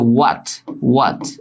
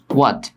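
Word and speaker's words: what: উচ্চারণ দেখো, এটা হটও না হোয়াটও না নুসরাত জাহান, ঠিক আছে, এটা হচ্ছে ওয়াট এরকম ওয়াট।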